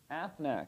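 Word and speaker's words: אתנח: Athnak, yes. Athnak, which you can remember like the Aflac duck. Like it looks like the duck. Aflac, Athnak. A beak.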